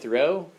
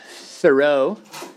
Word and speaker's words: Thoreau: okay so Henry David Thoreau is one of those names it's spelled like that row and the and transcendentalists